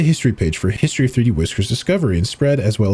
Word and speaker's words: 3dwiscr: The full title is 3D workers island, but most of us prefer to use its file name and state pronounced 3D whisker.